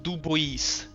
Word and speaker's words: Dubois: It's actually pronounced Dubois.